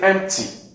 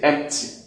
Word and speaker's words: empty: We can say empty, and we can also say empty. The P will come out. But it seems, in real practical sense, it's more comfortable to leave it out, empty, instead of trying to have the cluster.